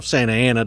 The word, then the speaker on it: Santa Anna: as we you know santana if it's correctly pronounced but you know santa ana to those of us uh he actually overthrows